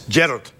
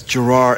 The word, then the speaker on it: Gerard: In Scotland, it's Gerard. Gerard. It's like that. It's, yeah, Gerard. Gerard. It's the emphasis on the first part, but here in America, it's Gerard, and it goes Gerard.